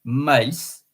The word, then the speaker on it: maïs: Then another amazing thing is that there is the trema that says to me, pronounce, or that says to us, pronounce me separately from the other letters.